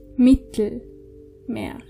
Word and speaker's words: Mittelmeer: Mittelmeer. Can you see that I'm not actually pronouncing the E in the middle?